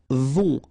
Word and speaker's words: vont: Then, ils vont. Final T not pronounced, and then O and together, on vont, okay?